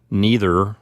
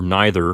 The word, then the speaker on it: neither: Next we have neuter, neutra, neutrum, which means neither or neither, depending on how you pronounce it.